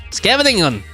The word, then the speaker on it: Scheveningen: Nochichi says Dutch and Scheveningen is pronounced Scheveningen.